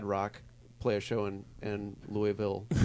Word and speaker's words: Louisville: Um, It's like watching Ad Rock play a show in Louisville, right. and he says Louisville. Louisville! Hello, Louisville! Louisville. What are you talking about? It's Louisville.